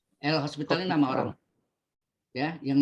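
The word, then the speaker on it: L'Hôpital: Ya, hospital. Nggak pakai S ya. Kalau pakai S rumah sakit nih. Ini O-nya pakai topi. Ya, host bacanya kan. Hospital. Tapi nada S-nya ke topi ya. Ini kan orang Perancis nih.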